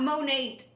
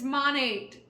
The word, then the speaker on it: Monat: It's short for Modern Nature. It's not Monat. It's Monat.